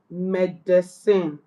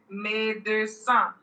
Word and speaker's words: médecin: Okay, so it's médecin. Médecin. Médecin. Where? Remember that IN there is a nasal vowel.